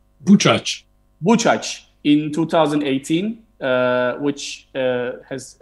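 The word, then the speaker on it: Buczacz: Am I pronouncing correctly? Buchaz.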